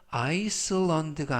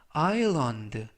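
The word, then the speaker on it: island: 아 아라고 발음하시면 되겠고요 이때 주의하실 점은 두 번째 있는 알파벳 S 이번 단어에서는 무음이라 발음이 되지 않습니다 그래서 아이스가 아니라 아런 라고 발음하시면 되겠고요 품사는 명사 뜻은 섬이라는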